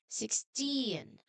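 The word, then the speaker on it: sixteen: It should be strong on the last part like saying 16.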